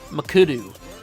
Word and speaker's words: McAdoo: McAdoo.